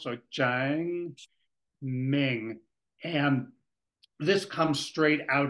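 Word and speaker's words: 正名: I think that first ideogram is Cheng, and it would be the Chinese tone that rises and falls. So Cheng Ming.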